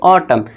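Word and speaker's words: autumn: एन का silent rule क्या है, यदि किसी वर्ड के अंत में एम एन हो, तो एन साइलेंट हो जाएगा। वर्ड के लास्ट में क्या है, देखिए दोस्तों एम एन है, तो यहाँ पे क्या हो जाएगा, हमारा एन जो है साइलेंट हो जाएगा। तो इसे हम क्या पढ़ेंगे, ऑटम।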